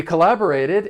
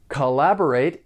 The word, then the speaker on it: collaborate: doing something for pronunciation the verb has four syllables and the stress is on that second syllable the first and third syllable have that unstressed schah sound that uh sound collaborate collaborate I'm sure